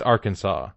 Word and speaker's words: Arkansas: It's Arkansas. Arkansas. It is strictly prohibited to pronounce Arkansas incorrectly.